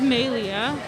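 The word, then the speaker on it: Maelea: Yeah, my name is Maylia. Everyone calls me. My full name is spelled capital M-A-E, capital L-E-A.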